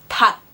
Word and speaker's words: 닭: In the word 닭, which is chicken, you can see that they fit into the category where you only pronounce the K, the 기역, 닭.